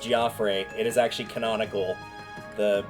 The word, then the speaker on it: Geoffrey: Yes, it is pronounced Goffrey. It is actually canonical. The guy that does the voiceover for this game at one point mentions his name and it is Goffrey, not Jeffrey.